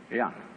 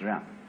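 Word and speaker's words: jen: In Confucius philosophy, the fundamental virtue of a human being is called Ren, spelled J-E-N, for reasons best known to Chinese scholars. I don't know what they are, but it's pronounced Ren.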